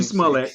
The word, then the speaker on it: Smollett: But you said it right, Juicy Smollett. You said it right the first time.